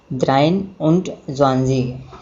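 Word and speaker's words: dreiundzwanzig: और इसी प्रकार हम 23 को प्रोनाउंसिएट करेंगे द्राइन उंट ज़्वांज़ीग।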